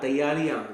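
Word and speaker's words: तैयारियाँ: Yeah, taiyariyan. Very good. Taiyariyan. Tayarian. Taiyariyan. Okay. So ya is sound at the end, right?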